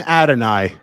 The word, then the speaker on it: Adonai: Adonai.